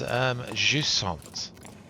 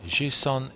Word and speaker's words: Jusant: That's Jusant. I think that's how you pronounce it in French. So Jusant, it's on multiple systems, but yeah, this is Steam version.